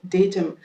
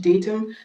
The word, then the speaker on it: datum: Datum. L'accent british, datum. L'accent américain, datum.